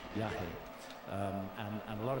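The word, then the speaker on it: yajé: form of Iawaska um is called Yah, which is spelled Y A J E with an accent E. Yah.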